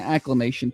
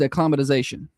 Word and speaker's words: acclimatization: I've been saying acclamation period. I acclamation sounds right. I know, but it's it's acclimatization.